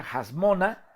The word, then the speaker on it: Hasmona: esta explicación que aquí se pronuncia hash mona no con una h fuerte hat no con la letra y con la letra jet bueno carmona en otra